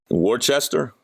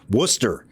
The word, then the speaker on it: Worcester: Worchester. Come on, Al. Even I'm not from New England. Even I know how they say it there. Worcester. Oh, it's Worcester.